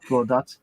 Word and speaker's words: Godot: But I think when people see the first time, they tend to go with the dot as the sort of more English pronunciation, like Godot.